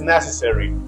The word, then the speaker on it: necessary: again people say necessary but the correct is necessary it's just on first syllable so the more syllables